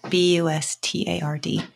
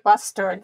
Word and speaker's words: Bustard: So look you up on Facebook, Bustard, B-U-S-T-A-R-D. Yes. Sorry, yes. Did I say it right? No, that's right, Bustard.